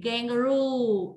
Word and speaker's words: kangaroo: Ok, kangaroo. Âm trọng âm rơi vào ru, kangaroo, right?